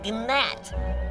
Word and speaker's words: gnat: You know, we both work for the king, but compared to me, you are a gnat. It's a G. Silent. It's Nat.